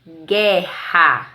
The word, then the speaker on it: guerra: u e q u sempre que eles forem dígrafos a letra u não vai ser pronunciada observa em a palavra guerra na palavra guerra jeú